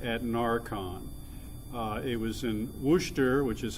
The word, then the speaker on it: Worcester: first in 2010 at närcon it was in Worcester which is how you pronounce that I had learned the hard way